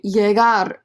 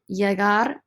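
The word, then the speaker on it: llegar: guys they have just arrived to their destination jagar to arrive jagar to arrive jagar to arrive don't say lily lagar okay remember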